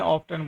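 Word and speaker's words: often: Adverb of frequency, how ऑफन, है ना। ऑफन भी पढ़ते हैं और ऑफ्टन भी पढ़ते हैं, दोनों प्रोनाउंसिएशन सही माने जाते हैं। ब्रिटिश लैंग्वेज में ऑफ्टन बोलते हैं और अमेरिकन में ऑफन बोल देते हैं।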